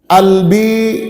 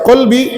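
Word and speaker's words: قلبي: Albi harusnya dibaca qolbi tapi orang Mesir bacanya albi.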